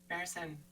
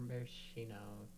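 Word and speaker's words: maraschino: Marrison. I thought they were marishino. Marishino. Oh, is that not how you pronounce it?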